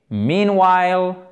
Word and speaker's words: meanwhile: Et vous avez le frère jumeau de meanwhile qui est… Alors, je force un peu sur l'accent tonique pour vous retenir bien qu'il est sur la première syllabe ici et c'est un i long.